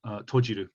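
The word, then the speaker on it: 閉じる: So this hon or shim tojiru. So this character here is exactly the same kanji for shimeru, but if you pronounce it tojiru, then it means something other than a door.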